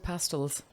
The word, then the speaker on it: pastilles: correct, I would have pronounced that fruit pastilles. Fruit Fruit pastilles. pastilles, yeah. Apparently not. Fruit pastels.